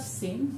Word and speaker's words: Singh: Forget about this H because we don't pronounce it in Bangla, we say sing. So this H is silent.